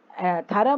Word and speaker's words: thorough: थरा माने बिल्कुल परफेक्ट, थरा माने क्या होता है, परफेक्ट। ये थ्रू नहीं है बच्चों, इसको ध्यान से स्पेलिंग देखो, थरा, THOUROUGH, थरा।